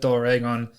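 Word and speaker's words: ドラゴン: Doragon is the Japanese pronunciation for a dragon.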